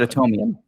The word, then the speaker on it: Atomium: It's spelled like Adam Yum. Oh my God. But Atomium.